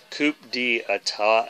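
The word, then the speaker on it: Coup d'État: to have all of theirs and this is pronounced coupe d etat I taw a tat I taught but you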